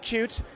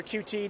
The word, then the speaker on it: Qt: psyched about sort of the introduction of of cute or QT depending on how you pronounce it uh as another uh sort of